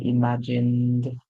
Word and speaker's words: imagined: When G comes before E, I or Y, we hear a song like J. So we hear image, and then we hear imagine. The E at the end is silent. So the word is imagine, and then we add the ed. So we hear imagined, imagined. So the ed makes the D sound.